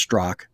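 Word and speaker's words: Straka: your account with the brandon straca which is actually pronounced strock because the content associated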